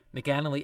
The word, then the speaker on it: McAnally: And that interview, I hope I'm pronouncing her last name correctly, Kathleen, is it McAnally? Yep. McAnally.